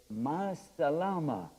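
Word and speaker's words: مع السلامة: Ma salama. It's real fast. Salama. You can even say it like that.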